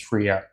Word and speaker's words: Freire: Glorious Death, and Andrew told me how to pronounce his name. It's Freire, so I'll finally be able to pronounce his name or his last name.